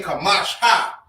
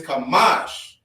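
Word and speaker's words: חמש: You wouldn't say Kamash ha. You wouldn't say Kamash ha. You feel me? So that's what you pronounce when you put the A at the end. But it's Kamash.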